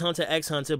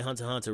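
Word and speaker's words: Hunter × Hunter: If you're not otaku, it's Hunter X Hunter, but real people say Hunter Hunter, real talk, the X is silent.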